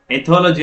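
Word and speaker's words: ethology: ಬಗ್ಗೆ ಅಧ್ಯಯನ ಅಂದ್ರೆ ಇಲ್ಲಿ ಎಕಾಲಜಿ ಮತ್ತು ಎಥಾಲಜಿ ಮಧ್ಯೆ ಡಿಫರೆನ್ಸ್ ಗೊತ್ತಿದ್ರೆ ಎಕಾಲಜಿ ಅಂತಂದ್ರೆ ಪರಿಸರ ಅಧ್ಯಯನ ಅಂತ ಕರೀತೀವಿ ಎಥಾಲಜಿ ಓಕೆ ಸ್ವಲ್ಪ ಉಚ್ಚಾರದಲ್ಲಿ ರಾಂಗ್ ಆದ್ರೆ ತಪ್ಪಾಗುತ್ತೆ ಎಕಾಲಜಿ ಅಂದ್ರೆ ಪರಿಸರ ಅಧ್ಯಯನ ಆಗುತ್ತೆ ಎಥಾಲಜಿ ಅಂದ್ರೆ ಪ್ರಾಣಿಗಳ ಏನು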